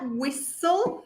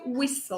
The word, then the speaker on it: whistle: Fíjense esta última palabra, whistle, ¿sí? La T no se pronuncia, ¿sí? Es directamente whistle, ¿ok?